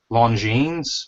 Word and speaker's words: Longines: They scrapped it there at the place, and it was a Longines Movement.